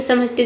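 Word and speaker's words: some: सम से समझते देखिए यहाँ पे एस का स हो गया, ओ का हो गया, और एम का हो गया म। ये साइलेंट है क्योंकि वर्ड के अंत में आया है सम।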